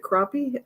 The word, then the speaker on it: crappie: don't know how to pronounce it you can pronounce it crappie is that the correct pronunciation okay thank you